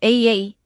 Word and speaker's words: A∴A∴: La a que se pronuncia como AA es una organización mágica